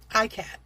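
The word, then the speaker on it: ikat: I googled it. That's the way they pronounced it. ICAT.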